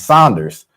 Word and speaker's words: Saunders: my last name is Saunders. So people want to forget the U, I'm like, what last name will pronounce Saunders if you have S A N, you know, it's just